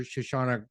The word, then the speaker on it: Shoshana: admired for a long long time uh Dr shashana grossbard uh but I don't know if I've pronounced your name right shashawn is am I